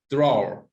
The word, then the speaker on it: drawer: How many syllables? I think I lost the chat. One. Yes, thank you, Kia. Yes, one syllable. Drawer. Yes, it's not drawer. Yes, it's just one. Okay, please don't say drawer.